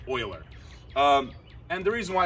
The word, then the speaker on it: Euler: sir Leonard Leonard Leonard Euler yeah that's actually pronounced Euler and the reason why it's called is because